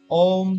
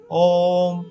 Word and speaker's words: ओम: इसका शुद्ध उच्चारण खुले मुंह के साथ ओष्ठों को सिकोड़ कर ऊ तथा ओष्ठों को पीछे लाकर मां ध्वनि निकालने से होता है।